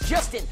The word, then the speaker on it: Justin: My name is Justin. It rhymes with dustbin.